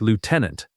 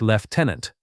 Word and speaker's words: lieutenant: This one shocks a lot of learners. In American English, it sounds like lieutenant. In British English, it sounds like left tenant. Both are correct depending on the accent you follow.